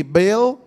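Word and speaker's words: Baal: so say to me bail what do you want to say Bal or bail I think both of them are accurate pronunciations right I think I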